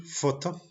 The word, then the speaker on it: photo: On a la combinación PH que ça se prononce comme F. Et on a l'exemple photo.